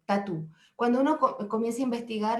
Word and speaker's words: tatú: El pueblo aymara lo conoce como tatú y se escribe tal cual, T-A-T-U, tatú.